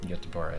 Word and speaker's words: Göteborg: It's actually pronounced Göteborg, but whatever.